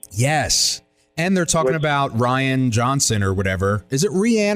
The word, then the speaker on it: Rian: it oh my god do you know how to pronounce his name though no it's Ryan John it is Ryan okay and then I